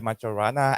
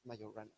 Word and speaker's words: Majorana: And today, our speaker is Salvatore, and today he will tell us about Ettore Majorana and the real solutions of the Dirac equation.